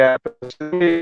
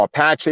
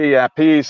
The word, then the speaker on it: Appice: You know, there's all these different pronunciations. And, you know, Apache, Appice, Appice, blah, blah, blah. So Carmine just said, "Just say Appice." So that's when he changed it to Appice.